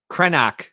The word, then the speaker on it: Krennic: Krenak shuttle should have come with us. Yeah. Who's Krenak? That's the correct Corsanti pronunciation of Krennic, of course.